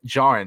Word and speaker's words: Djarin: Din Djarin, which is spelled D-I-N, Din. And then Djarin, D-J-A-R-I-N. So the D is silent in the last name.